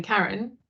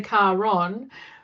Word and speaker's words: Caron: And whilst now I still go by because Australians are linguistically lazy and can't do 2 syllables, they still call me Karen. They don't say Caron.